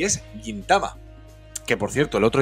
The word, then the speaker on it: Gintama: que escuchaba que decía gintama Bueno pues creo que lo correcto es gintama por si alguien haba